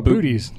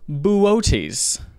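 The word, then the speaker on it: Boötes: and it is the constellation b-o-o-t-e-s like oh booties buddhists booties boots um it's actually pronounced buoties that makes more sense than booty there you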